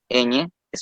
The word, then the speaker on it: ñe: La letra ñ, tai, ñ, es una consonante palatal nasal que se pronuncia igual que en español y cuyo nombre es ñe porque se le agrega una e para la pronunciación en el alfabeto.